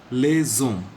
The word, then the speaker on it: les hommes: The S will be pronounced as Z because the next word begins with a silent H. So it becomes les hommes.